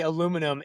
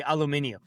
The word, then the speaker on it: aluminium: That's like when Americans say aluminum and everywhere else in the world they say aluminium.